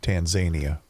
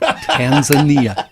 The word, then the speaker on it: Tanzania: John, I'd like to congratulate you for the pronunciation of Tanzania. I'm glad you noticed that cuz I practiced that. Tanzania.